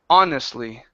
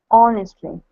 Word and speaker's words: honestly: here uh with honestly we don't need to pronounce the h okay this is a honestly honestly and also good all